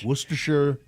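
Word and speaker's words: Worcestershire: to pronounce the ingredients it's not worest it's worershir thank you guys are awesome go wish Sure.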